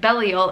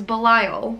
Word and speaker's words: Belial: i found out that it is not pronounced belial it is belial which makes more sense